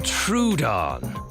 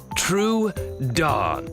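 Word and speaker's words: Troodon: I'm True Dawn. True Dawn.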